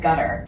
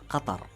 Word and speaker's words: Qatar: So, just to recap, the official pronunciation of my country is Qatar. Qatar. Qatar. So go ahead and close your throat a little bit. Make sure you say ta instead of ta, and you get Qatar.